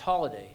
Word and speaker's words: Holyday: The name is spelled hol day but pronounced holiday. And in England my grandfather told me that the first holidays were hols and that's how we happen to have that name.